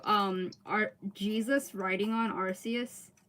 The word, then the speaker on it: Arceus: people pronounce Pokemon names it's Arceus it's just that they realize that when a British person when a British person says RC as it sounds like asius so they changed it yeah exactly the